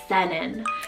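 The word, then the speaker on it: Senan: this one it's the name sennan so s-e-n-a-n it means brightness and senen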